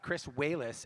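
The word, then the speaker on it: Chris Walas: And to do it, for the first time, we got Chris Wallace, actually is how you pronounce his name, and Rick Baker, and put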